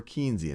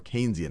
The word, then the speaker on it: Keynesian: maybe more one of that's more keian and some of what we've talked about or Keynesian I should say I already did my first mispronunciation one that's a little